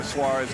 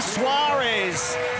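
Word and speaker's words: Soares: so oh the American Brazilian Tim Suarez it's spelled sores and he is soaring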